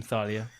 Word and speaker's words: Thalia: Not like Team Thalia, or maybe it's Team Dude, if it's Team Thalia, I will always drop immediately. But you have to pronounce it the German way, Team Thalia.